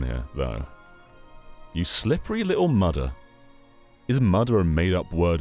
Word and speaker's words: mudder: You slippery little mudder.